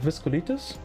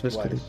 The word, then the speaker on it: Vasculitis: Viscolitis? I always confuse it. They're Yep. like, that's Vasculitis. Vasculitis. Pronunciation was a little bit off, but pretty close still.